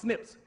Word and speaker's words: SNP: coding system called Snips SNP but it's pronounced Snips that says that the